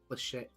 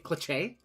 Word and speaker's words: cliche: The man was Isn't it crazy when people pronounce the cliche clich? Oh, clichche cliche.